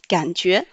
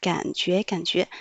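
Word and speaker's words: 感觉: UE prononce yue. Avec le deuxième ton, ça fait yue. Le J prononce ji.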